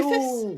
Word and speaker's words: Griffiths: Griffiths? That's how you say it, isn't it? Yeah, it is indeed. It is indeed. You can. I've heard people say Griffith and Griffiths and Griffins and all this.